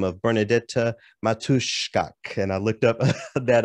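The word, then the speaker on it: Bernadetta Matuszczak: now a polish composer by the name of bernadette matushkok and i looked up that uh pronunciation and practiced it a lot this morning bernadette matushka she was quoted as saying in poland garagina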